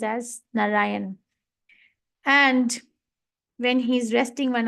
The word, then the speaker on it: Narayan: The Narayan, 3 syllables.